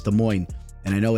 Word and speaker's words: Des Moines: I do understand it's pronounced De Moine.